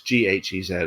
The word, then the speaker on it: Ghez: And then, as we talked about, Reinhard Genzel and Andrea, and I looked up how you pronounce Andrea's surname, but it's Ghez. I'll say Gehez.